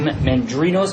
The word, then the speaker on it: Mandrinos: With me, Jim Mandrinos, am I pronouncing that well? Yes, that's perfect.